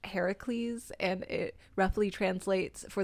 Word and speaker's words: Heracles: yes yes definitely Hera's son because it's actually pronounced Heracles and it roughly translates for the glory of